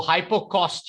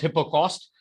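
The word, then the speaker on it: hypocaust: to the the vocabulary so hyper cost here okay hippo cost i'm sorry the word should be pronounced hippo cost hippo cost basically means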